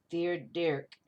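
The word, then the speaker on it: Fear Dearc: Fear Dirk. King. Pretense versus purpose. It's spelled fear, F-E-A-R, Dirk, D-E-A-R-C.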